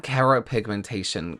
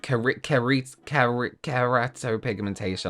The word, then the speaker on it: keratopigmentation: And then we have keropigmentation, keratopigmentation. I always said it wrong every single time, which is the injecting this color into your eye, right?